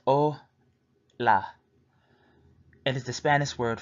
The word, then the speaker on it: hola: to introduce yourself greetings hola pronounced oh la it is the Spanish